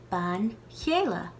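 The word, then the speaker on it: bean chéile: Ban chéile. Ban chéile. We soften in this word the initial k sound of céile to be chéile.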